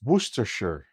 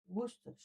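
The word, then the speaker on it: Worcestershire: Or is it wor? No, it's No, it's sure. I think sound wor. No, sure. Sure. Just say sure. Sure. Yeah. Just say it like that.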